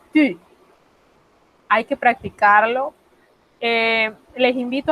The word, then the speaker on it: tu: Y además se pronuncia diferente, porque la U en el francés se pronuncia U, por lo cual ese tú del español sería tu.